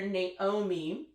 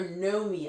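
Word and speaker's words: Noemí: So basically, the main character, Naomi, or Nomi, I think it's pronounced, Noemi, with an accent over the I.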